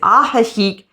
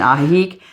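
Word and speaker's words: Ajijic: our favorites just number one number one is aik Mexico that's AJ i j i c not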